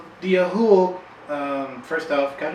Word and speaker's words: Ahool: to discuss another interesting cryptid, this time, the Ahool. That's correct. Did I say that right? Yeah. Ahool. The Ahool. I want to make sure sit there and mispronounce it. Ahool? A jewel?